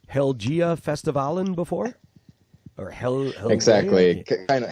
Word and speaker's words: Helgeå: It was called, I'm going to say this wrong, Helgia Festivalen before? Or Exactly. Kind of Helgeå is the Swedish way of pronouncing it, but this is exactly why we changed the name.